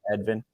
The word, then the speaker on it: Edvin: Did my American pronunciation, was that correct of both of your names? Vilma, Edvin?